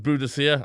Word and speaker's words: Boudicca: Celtic I put buddika people think it's pronounced budhia I I prefer buddika cuz it sounds like